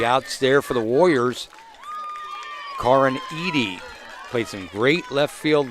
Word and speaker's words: Karin Eady: I call her Karen Eddy. It is Karin Eady.